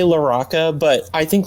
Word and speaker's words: LaRocca: that larocca larocha yeah so um i say loraca but i think larocca is perfectly acceptable too i know like a